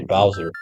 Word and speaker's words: Bowser: I pronounced it Bzer when I was a kid. Probably because I'm Portuguese, but I guess in English you're supposed to say Bowser.